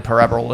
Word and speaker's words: Parable: Stanley parabal we all know what the Stanley parab is par Ben can you pronounce it please par parabs I think you'll